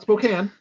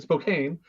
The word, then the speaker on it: Spokane: Not Spokane. Spelled the same as Spokane, but Spokane.